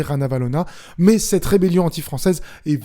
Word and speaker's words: Ranavalona: la reine Ranavalona III, ça s'écrit comme vous l'entendez, Ranavalona, mais cette rébellion anti-française est violemment réprimée dans le sang et Ranavalona III va être exilé en 1897.